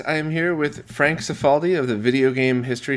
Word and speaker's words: Cifaldi: You pronounced it the way that my God, what are we, like fourth generation Italian American family does? But were we in Italy, then the proper pronunciation would be Cifaldi.